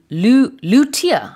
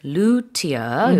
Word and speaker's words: luthier: Yeah, luthier. Yeah. 이렇게 발음을 하는군요.